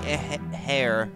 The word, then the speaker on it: heir: I heard the story of the young heir who lost... Young heir? Yeah, I think you pronounce it that way, right? You don't emphasize the H, do you?